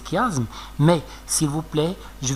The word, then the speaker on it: chiasme: patience mme certain que personne ne prononce chiasse ans comme c'est pas juste c'est faux d'accord il faut prononcer chiasme mais s'il vous plaît